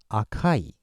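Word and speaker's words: 赤い: stop it okay uh Chinese style is SEI or shaku shaku is very rare usage and uh in Japanese it's AKA AKA means red and for adjective we use Akai okay yeah so that's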